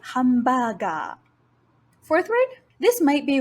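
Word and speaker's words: ハンバーガー: Next, even though this sound isn't the first in the word, it is a borrowed word into Japanese from English, so we do not want to use the bidakuon sound. This word should be pronounced as hamburger.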